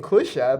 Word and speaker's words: Kusha: people are mispronouncing Kusha. Like I'm saying Kusha, but people are writing not Kusha. People are writing something else, and I'm like, you guys are like mispronouncing the name, the only hub that we have in the entire North Medea, and you guys are writing Kusha. Wrong.